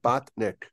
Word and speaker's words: Botnick: C an that's it bot as like a robot bot and then Nick oh like Nick like like Nicholas Nick right bot Nick like imagine a little Nick